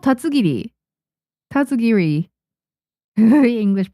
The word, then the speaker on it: Tatsugiri: It's called tatsugiri. Tatsugiri. The English pronunciation.